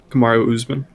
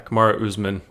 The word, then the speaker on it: Kamaru Usman: Yeah, Kamaru Usman. Yeah, Kamaru Usman.